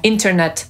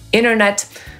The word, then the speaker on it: internet: I właśnie w amerykańskiej angielszczyźnie w wielu innych słowach również pomijamy literę T w zbitce NT. Między innymi w słowie internet, które wymówimy jako internet lub internet, 20, 20 lub 20, panowie, gentlemen lub gentlemen, hrabstwo, county lub county, a nawet zima, czyli winter lub winter.